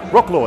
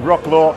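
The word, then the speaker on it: Wrocław: in a rock load I can't pronounce it properly because I don't speak Polish but we're in Wroclaw Wroclaw that's it with Wroclaw an amazing rum fest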